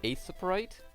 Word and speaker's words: Aseprite: Sometimes I'll use, I think it's pronounced Aseprite, or Pixel Edit.